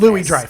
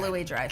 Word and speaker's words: Louis-Dreyfus: Louis-Dreyfus. That's Okay. the way I've heard it pronounced. Okay. Julia okay. Louis-Dreyfus.